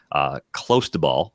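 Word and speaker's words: clostebol: Close to ball, I believe, is the pronunciation of the steroid that Tatis tested positive for.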